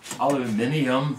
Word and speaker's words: aluminium: It's got a pretty accurate, this is actually a very accurate fence, and this aluminium, correct pronunciation, can be removed from it.